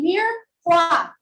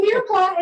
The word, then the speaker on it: mirepoix: When we in French cooking do our sauces, we usually start with a mirepoix. Repeat after me, mirepoix. Mirepoix. Aba, mga gutom. Spelling on. Sir, spell mirepoix. Bagsak. Okay, so mirepoix is Miretoix.